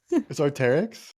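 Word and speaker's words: Arc'teryx: is the name of that how do you pronounce it do you know it's arteric yeah how do you it's like the new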